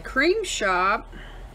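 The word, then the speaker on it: Creme Shop: And then from the crim shop, that's how it's pronounced, there's the All is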